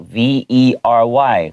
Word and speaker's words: vary: oh it sounds like v e r y 很的意思 right but it's actually v a r y pronounced exactly the same 嗯 so v a